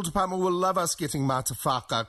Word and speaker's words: MataWHAKA: MataWHAKA? MataWHAKA. You really need to emphasise the whaka. Whaka. That's it, whaka. Yes, the legal department will love us getting MataWHAKA correct.